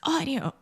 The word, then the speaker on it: audio: We used to, and then you were like, it's audio. Yeah. And now we say it correctly. So imagine this A-U combination in English. Most of the time, these two sounds combine together and they produce the aw sound.